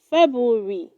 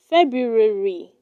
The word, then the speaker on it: February: asked the child four do not say february it is pronounced february february my brother arrives in february 5.